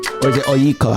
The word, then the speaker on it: Onyeka: It's spelled Onyeka. Onyeka. Onyeka. Yeah, Onyeka.